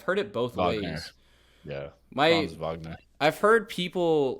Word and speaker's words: Wagner: way cuz it's yeah my my friend's family's German and they say Vagner so even if they're wrong I'll say that until another German corrects me it's like playing